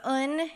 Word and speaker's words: Un: So Un is pronounced somewhere between the short and long vowel U.